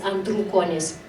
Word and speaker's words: Andrukonis: I mispronounced your name. Yes it's Andrew Konis.